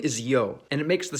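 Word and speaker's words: ё: In almost all of these languages, its name is yo, and it makes the sound yo y or which if you talk fast enough, it basically all sound the same.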